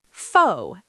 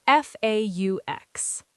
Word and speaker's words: faux: Faux. F a u x.